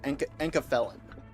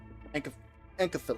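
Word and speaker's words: Enkephalin: Yeah, Encafelin. Encafelin. You gotta say it like a drug.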